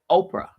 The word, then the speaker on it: Oprah: Oprah. Could you spell that, please? He said. I did. Oprah. And the H is silent.